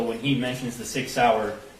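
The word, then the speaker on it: Sauer: he mentions the six sour he mispronounced sour as Sawyer which if you purchased that firearm and it was for yourself you'd be familiar with how to say six sour okay and I I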